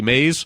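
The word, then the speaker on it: Maze: The previous tenant's name was Willie Mays, Perfect. although it's spelled M-A-Z-E.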